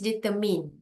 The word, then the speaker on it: determine: you supposed to pronounce it okay the correct pronunciation is determin it's not determined it's determined it's a silent